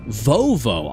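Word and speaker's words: vovó: Vovo. I would not have... I literally did not and would not and could not have guessed that correctly. Vovo.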